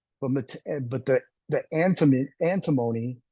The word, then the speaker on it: antimony: but the the antim antimony or antimony as some people pronounce it is the war metal